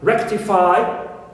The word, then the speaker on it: rectify: For example, we take an example of a verb which ends with phi, like rectify, like sanctify. So, rectify is stressed on the first syllable because it ends with phi.